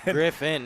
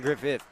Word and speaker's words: Griffin: Griffin, not Griffith.